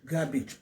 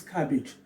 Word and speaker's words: cabbage: people they made the mistake of funny cabbage garbage please the correct pronunciation is cabbage when you say garbage we are talking about